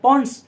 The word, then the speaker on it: pons: हो सकता है आपसे पूछ रहे भाई पॉन्स का फंक्शन क्या होता है, पॉन्स, ओके, PONS, पॉन्स, ठीक है, ध्यान रखना बेटा, है ना। कई बार बच्चे मिस प्रोनाउंस कर देते हैं इसको, ठीक है, कई